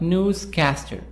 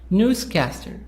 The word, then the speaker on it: newscaster: higher longer and louder a compound noun is a noun which is made of two words two nouns like newscaster newscaster so we found here that the stress is on the first part and will make the